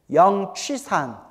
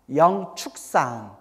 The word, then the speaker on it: 영취산: 취라고도 발음하고 축이라고도 발음해요. 영취산. 영축산.